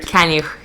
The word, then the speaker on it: Kaniuch: Welcome to the Lifestyle Chase, episode 24 with Kaniuch. Did I say it right? Kaniuch, yeah.